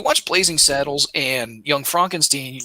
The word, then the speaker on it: Frankenstein: He's like, actually, it's Frankenstein.